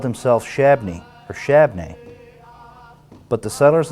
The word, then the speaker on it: Shabbona: Shabbona pronounced his own name as Shabney. 2 syllables, Shabney.